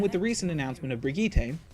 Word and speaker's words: Brigitte: the recent announcement of brigita and yes that is how it's pronounced it's not Bridget they're up to 27